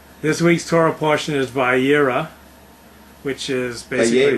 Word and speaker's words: Vayeira: This week's Torah portion is Vayeira, which is basically... Vayeira.